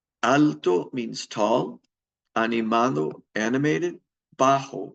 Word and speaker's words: bajo: means tall Animo animated bajo with a J the J is pronounced like an H is short in stature